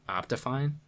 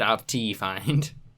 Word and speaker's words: OptiFine: pronounced like that it is how do you pronounce it then optifine that's what i said you said opti find because it's got a t in it yeah